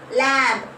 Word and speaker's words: lamb: Lamb. B is a silent letter.